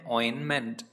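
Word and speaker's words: ointment: फ्लाई इन ऑइन मेंट इसमें ये जो टी है ना ये टी साइलेंट रहता है तो इस शब्द को हम पूरा पढ़ते हैं ऑइन मेंट तो अगर आपको हिंदी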